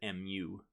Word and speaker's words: mu: we refer to this as mu the greek mu which um you can think of it as mu to pronounce it uh and and that's going to